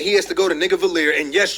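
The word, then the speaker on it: Nidavellir: to Nigavelir, and yes, you heard that right, Nigavelir, because I done tried to say it like a million times. The first time he said it, I thought he was saying Nivadelir, but then all of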